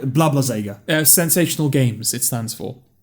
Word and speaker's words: Sega: Sure, it's Sega. What are you saying? Are you saying like with a Z or with an S? Well, it's with an S, isn't it?